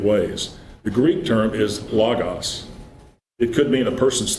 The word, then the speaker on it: logos: a book or something, people say logos, it's not logos, it's logos. Because this is either, you want to call it a short O or a short A sound. This is a long O sound.